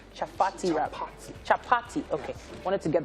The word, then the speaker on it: chapati: did you call the patty wrap bread chocolate chaffati right chaffety wrap chapati okay i wanted to get the pronunciation right the chapati is what we're going